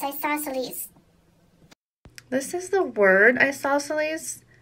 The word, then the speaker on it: isosceles: Kind of has that Z sound at the end that you couldn't tell with my other voice. So it's isosceles.